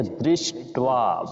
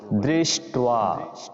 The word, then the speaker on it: দৃষ্ট: অভ্রবিত রাজা বচনম অভ্রবিত তো এটি দৃষ্ট মূর্ধন্য স ট আর নিচে আবার ব আছে এজন্য দৃষ্ট বের মত উচ্চারণ করতে হবে দৃষ্ট পান্ডবানিম বিউঢম দূর ধনস্তদা